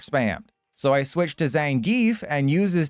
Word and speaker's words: Zangief: Silver Surfer and learning his name's actually pronounced Zangief, not Zangief.